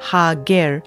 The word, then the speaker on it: Hagar: water in the wilderness the name Hagar can be pronounced Hager meaning the stranger or